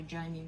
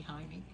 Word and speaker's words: Jaime: And he said, well, you in the States say Jamie, but it's really Jaime.